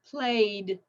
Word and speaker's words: played: then the ed ending sounds like a D. Okay, so played, played, amused, amused.